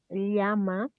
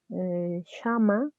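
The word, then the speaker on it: llama: ellie yeah with ellie we have liama pay attention to the pronunciation please this is the correct way to read these letters they are two else that you have to read alien in other parts of south america like in argentina they only read shama or yama okay for example you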